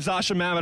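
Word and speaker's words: Zosia Mamet: next to it everyone needs two pictures of Zasha Mamet on their wall kudos to you to you for pronouncing her name right yeah oh wow that's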